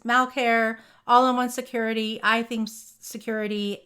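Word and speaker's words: Sucuri: all-in-one security I them security and security which is spelled s uu r i so it's not security it's security and my team uses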